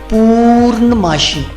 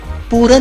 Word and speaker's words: پورن ماشی: جب اس کا جو صحیح تلفظ ہے وہ یوں دیکھیے، پورن ماشی، پورن نہیں کہنا اس کو، پورن ماشی۔ عموماً اس کو ہندی کا